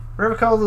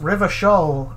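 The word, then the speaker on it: Revachol: don't know it yeah River coal is pronounced river shoal oh then you kind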